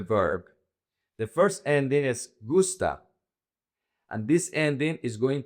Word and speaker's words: gusta: Most verbs in Spanish emphasize the second to the last. So in this case the emphasis is goose. So it's gusta singular gustan plural.